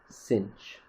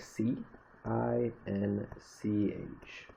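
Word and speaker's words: sinh: sine hyperbolic sine and this is sometimes pronounced pronounced cinch so the way the way the word cinch is written is you actually like c i n c h so this is pronounced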